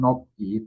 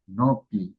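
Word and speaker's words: 높이: yang terakhir di sini ini bukan nopi tapi nopi.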